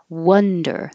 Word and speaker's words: wonder: wonder the vowel is uh so now your jaw is is high and your tongue is low in the middle and pulled back uh wonder it could be think